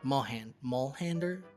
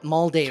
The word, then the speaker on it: Moldaver: the guards while he asks the president about Molhander? How do you come on, man! You're in a Fallout podcast. You should know how to say the name of the Moldaver.